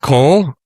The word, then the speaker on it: Kole: The jet coal, he said it's coal. Pronounce coal, right?